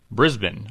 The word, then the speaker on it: Brisbane: Anyway, the correct pronunciation is Brisbane.